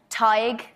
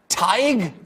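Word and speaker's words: Tadhg: sisha that's Hera does anyone know here to pronounce that in the audience hi TIG TIG yeah Nave what Nave Nave but it's NE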